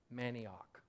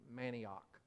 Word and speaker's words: manioc: It is manioc. Spelled the same as maniac, but it's an O, manioc.